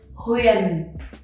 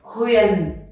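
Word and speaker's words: Huyền: The next one we have is huon. So you have to pronounce all the letters U, I, E, Uyen, huon. And remember the down tone, huon.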